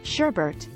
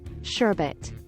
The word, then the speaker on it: sherbet: the pronunciation of sherbet some people remember the frozen dessert being pronounced Sherbert instead of sherbet 25.